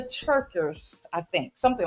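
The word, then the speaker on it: TerKeurst: I always say her last name wrong. Lisa Turk Turk Turkist. TER. We should have put out a book. We should have wrote it in the chat. But anyway, TER capital KEURST. Lisa Turkist, I think, something like that.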